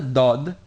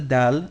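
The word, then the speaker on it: ضاد: position you would use to pronounce the dal, but move it back a little bit so it gives a more resonating and a bit more emphatic sound.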